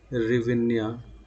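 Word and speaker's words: гривня: वो हो जाएगी आपकी रिविन्या। ठीक है, या जिसी को एस साइलेंट कर देता है, एस साइलेंट कर देता है तो रिविन्या दे देता है आपका ऑप्शन।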